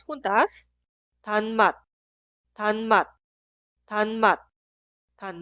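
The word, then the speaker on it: 단맛: Ahora leemos las dos sílabas juntas. Tan mat, tan mat, tan mat, tan mat.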